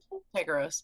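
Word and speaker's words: Tycheros: How do you pronounce that? Tykeros.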